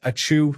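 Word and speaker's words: ačiū: ACU pronounced a chew like a sneeze means thank you in Lithuanian.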